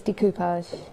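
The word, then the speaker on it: découpage: brilliant isn't it but I am the only one that says decoupage because it's French isn't it yeah everyone else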